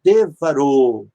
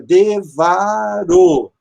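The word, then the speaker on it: דברו: vai se transformar em devarou, né? Seria devarou. Por quê? Notem, de é a propretônica, uma sílaba aberta. Ba é a pretônica, é uma sílaba aberta. E essa aqui é a tônica.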